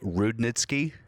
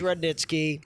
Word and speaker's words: Rudnitsky: it up for sure people I probably would say rude netsky but reddit sees rudnitsky i just decided to